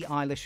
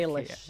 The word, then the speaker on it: Eilish: That's how you pronounce it, isn't it? Not Eilish like the Manx name. I have definitely said Eilish and been told it's Eilish.